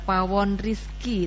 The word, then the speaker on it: Pawon Rizq: dan kali ini eh Pawon Rizki tulisannya kan riskue ya membacanya benar Pawon Rizki ya Pawon Rizki Bunda